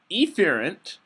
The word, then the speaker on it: efferent: external environment motor neurons are efferent emphasis on the E here these are going to